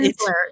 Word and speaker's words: Rensselaer: Rensselaer, yeah.